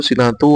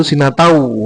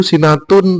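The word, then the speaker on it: سِنَةٌ: Jadi membacanya la takudu sinatu wala naum bukan la takudu sinatau wala naum.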